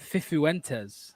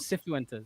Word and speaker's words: Cifuentes: Fifuentes. There we go. There's another way. That's how it's pronounced. Fifuentes. It's Fifuentes, not Cphuentes.